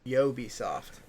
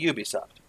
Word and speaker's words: Ubisoft: it both being wrong because it's pronounced yo be soft yo be soft whoa why Oh Oh be soft no that would be Ubisoft why yeah weird though